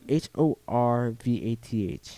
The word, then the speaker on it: Horvath: yeah he's the duke collectible whatever i forget it's spelled h-o-r-v-a-t-h yeah horvath yeah i and i love the